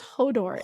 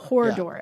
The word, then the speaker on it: Hodor: It's hold the door. So, it's Hodor. It's not Hordor. I think it's where you put the R is really important in this one. Hodor.